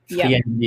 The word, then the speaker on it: friendly: Et on ne prononce pas le i, hein. C'est pas un friand. Friendly, yeah.